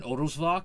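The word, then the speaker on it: Odelschwanck: end doesn't get pronounced none of the almost none of those letters in odusvoc get pronounced the way we would normally pronounce that in English yeah because SCH is still like that thing but the W turns into a v i could have sworns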